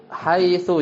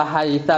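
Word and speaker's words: حيث: Fa innahu yajuzu an taqul, maka engkau boleh katakan terhadap haitsunya ya. Haitsunya bisa bidhammi. Jadi jalastu haitsu jalasa Zaidun, wa haitsa bil fathi bisa juga jalastu haitsa jalasa Zaidun, wa haitsi bil kasri, illa an hadhil aujuha ats-tsalasata laisat bisababil awamil. Tapi ya, antum bisa bacanya haitsu, bisa dibaca haisa, bisa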